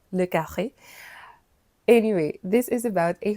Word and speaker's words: le Carré: I don't know it has an inflection so I pronounce it in French as uh le Carré.